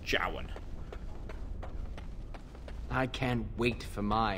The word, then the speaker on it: Jowan: have you seen him johan okay that's how it's pronounced jowan i can't wait for